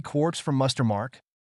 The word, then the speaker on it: quark: The word quark is supposed to be pronounced like quart, but with a K at the end instead of a T, but is usually pronounced to rhyme with lark.